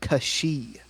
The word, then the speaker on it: Cait Sith: is based on the the Gaelic fairy cat is pronounced Kashi well and I don't